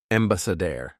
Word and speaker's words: ambassador: And it doesn't matter that here it was being pronounced sorry spelled with an a. The actual sound isn't ambassador. It's embedded. So dare. Adair. Basedare. Embassadere.